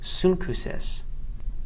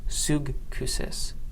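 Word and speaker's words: σύγχυσις: Here we have gamma followed by chi, and again changing the sound so that we have sunkusis and not sugkusis.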